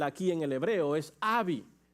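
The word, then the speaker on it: אבי: en el hebreo padre en el hebreo es Abi a ve de vaca I en el hebreo padres se pronuncia Abi y en el contexto hebreo padre escuchen esto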